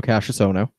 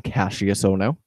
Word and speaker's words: Cassius Ohno: I mean, it was still Cassius Ohno, and they kept on pronouncing his name Cassius Ono.